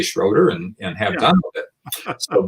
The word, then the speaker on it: Schroeder: like oh yeah okay it's between an o and an e yeah okay but because